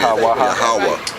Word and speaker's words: Yahweh: So it's Yah-ha-wah-ha, which the H is silent at the end. Yahweh.